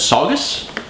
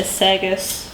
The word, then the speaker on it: Saugus: Saugus? That's how I'd say it. Saugus, Massachusetts? That's probably right. My Wisconsin heritage says long A, so I'd probably say Sagus. That's not Sagus. What'd you Sagus? Saugus.